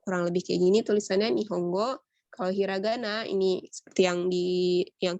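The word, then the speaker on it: 日本語: Contohnya ini Nihongo bacanya. Kalau tulisan kanji ini seperti ini. Ini kanji matahari, kanji pohon, kanji bahasa gitu. Tapi kalau dijadiin satu, ini artinya bahasa Jepang. Itu Nihong Jepang, go bahasa Nihongo.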